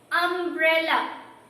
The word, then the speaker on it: umbrella: But the sound which is coming when we pronounce umbrella is A. The opening sound is A.